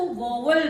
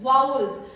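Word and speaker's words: vowels: ये वाले वाउल sounds, कुछ स्टूडेंट्स इसको वॉवल बोलते हैं, इट्स नॉट वॉवल, इट्स वाउल्स।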